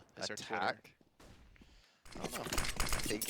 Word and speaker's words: ATK: Oh, See, it is pronounced attack, yeah.